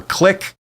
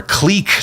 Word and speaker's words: clique: they're a bit of a click or a clique depending on how you pronounce that and uh you know